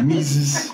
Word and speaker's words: Mises: Mises, is that how you say it? Yeah. Mises.